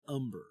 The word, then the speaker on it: Humber: how it's pronounced I I think it's umber I think they just don't say the AG umber well that would make sense because North umberland yeah but I don't